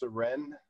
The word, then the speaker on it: Syren: your last name uh my last name is pronounced saren like serenity very good and when